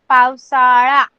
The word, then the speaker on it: पावसाळा: Okay see every time आपका pronunciation ळ होना चाहिए, ळ ड नहीं। पावसाळा, हिवाळा, उन्हाळा लाइक दिस।